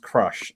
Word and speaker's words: Cruzh: of the night comes i'm assuming it's pronounced crush even though the spelling is a bit odd i'm not entirely certain